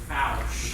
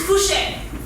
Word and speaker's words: Fouché: Johnson, and I think it's actually pronounced Foush. Actually, it is Fouché.